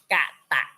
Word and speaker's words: กต: ฐาน ภาษา บาลี ถ้า ภาษา ไทย กต อ่าน ว่า กต ก ไก่ ต เต่า อ่าน ว่า กาตุ กาตุ ก กด แต่ ภาษา บาลี ให้ อ่าน ว่า อะไร ครับ